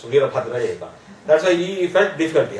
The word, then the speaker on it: Veerabhadraiah: Probably he may not be remembering my name, because my name is very difficult for a foreigner to pronounce. Veerabhadraiah.